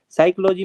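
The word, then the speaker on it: psychology: नियम होते हैं ना साइकोलॉजी में पी से स्पेलिंग शुरू होती है बट पी पी साइलेंट हो जाता है बहुत सी चीजें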